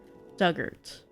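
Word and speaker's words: Dugort: Pronunciation Doug like the past tense of dig. Ort rhymes with hurt. Duggart.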